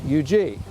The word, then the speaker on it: Huger: is Benjamin eug and he pronounces it yug but he will be